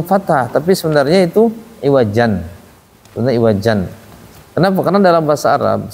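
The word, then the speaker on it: عوجا: alimaad Iwat iwaja panjangan walam yaj'allahu iwaja dua harakat aja enggak boleh panjang-panjang dua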